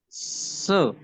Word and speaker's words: se: so so so Oh Se Iya yang terakhir berarti se se se se se se nah itu e pakainya e jadi bukan bukan I tetapi dibacanya ebaca e oh vokal I dibaca